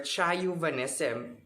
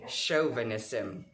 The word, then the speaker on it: chauvinism: or you as chauvinism or chai vanessa but it's very wrong the correct pronunciation of it is chauvinism chauvinism is an aggressive and